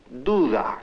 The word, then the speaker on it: duda: Now notice that the initial D is pronounced da. The middle D is pronounced differently, like th. When the da sound occurs between vowels, it is pronounced th.